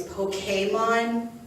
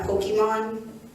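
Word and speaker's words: Pokémon: See, I'm one of those people who are like, it's Pokemon, not Pokemon. I'm gonna brawl with you. That's how it's said.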